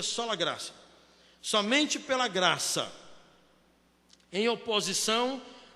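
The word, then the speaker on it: sola gratia: Tem um T aí, mas pronuncia sola grácia.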